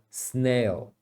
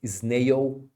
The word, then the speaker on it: snail: falar é esse mas em inglês o l tem que ser pronunciado tá em qualquer lugar